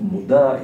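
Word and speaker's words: מודע: The word, the second word in the pasuk, moda, is written and spelled and pronounced in two different ways, ktiv and kri. Meida, moda, meida is miyada,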